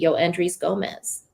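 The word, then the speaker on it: Yoendrys Gómez: Make sure that I pronounce this correctly, but is it Yoendris Gomez?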